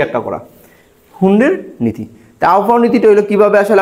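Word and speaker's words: Hund: German পদার্থ বিদ এইযে হুন্ড নীতিটা আসলে একজন পদার্থবিধি প্রবর্তন করছে তো জার্মান পদার্থবিদ ফ্রেডরিক হারমেন হুন্ড ফেডরিক ফেডরিক ফ্রেডরিক হারমেন হারমেন হুন্ড হুন্ড হুন্ড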